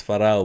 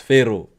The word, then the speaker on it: Pharaoh: We pronounce it as Farao, but it's Pharaoh.